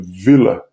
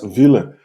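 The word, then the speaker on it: Wöhler: um químico alemão chamado de sobrenome vila então esse é mais ou menos a pronúncia do nome dele ele conseguiu fazer algo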